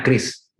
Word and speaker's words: QRIS: kebab ya makanya keluarga namanya Kris ya kwini bacanya Kris ya ini stiker atau biasanya